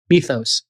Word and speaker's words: Mythos: Listen, speaking of doing so, Anthropic is withholding its newest model, Methos. I'm using the Greek uh pronunciation, its newest model, Mythos, uh saying it is